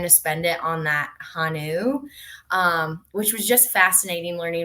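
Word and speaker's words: 한우: feed those to their Hanu cattle, and so. Really? Yes, and I believe it's Hanu is how you pronounce it, but That sounds um right to me.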